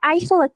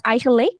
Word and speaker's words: eigenlijk: Nah, jadi ini bacanya eigenlijk ya, teman-teman. Bukan eigenlijk, bukan. Tapi eigenlijk. Gitu.